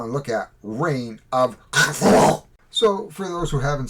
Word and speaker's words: Cthulhu: Today we are going to be looking at Reign of Cthulhu, or if you are a Cthulhu person, you would actually say How did H.P. Lovecraft pronounce this word?